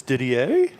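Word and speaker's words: Didier: He's looking at it, but it's diddier. Diddier. Yeah, I read it too quick and thought it said Diddler. Not at all. So, it's it's spelled French.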